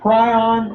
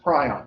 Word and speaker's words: prion: A prion, or as it was always pronounced prion. When I was going to school, and for years it was pronounced prion. The last 3 or 4 years, I've started hearing people pronounce it prion.